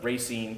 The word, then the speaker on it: Racine: you know rising out of poverty going to Racine yeah that's how you pronounce very soon Racine Wisconsin and then you